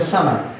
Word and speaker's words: Samhain: Los druidas eran satanistas que hablaban y servían al dios, se pronuncia Shama, pero es Samhain. S-A-M-H-A-I-N, Samhain, se pronuncia Sama, el dios de los muertos, el dios de la muerte.